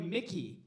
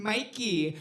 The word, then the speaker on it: Myki: before the recording and he called me Mickey. So I was like Mickey. Where is Mickey? Where is Mickey? And I was like, "Okay, now I have to say my name in my entrance so people just get it. They get it right off the bat." So I walked in like this. I was "Hi, I'm Mikey, but you you can call me Mikey."